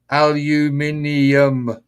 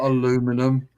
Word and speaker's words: aluminium: give you guys bloody aluminum aluminium not aluminum I heard Clive say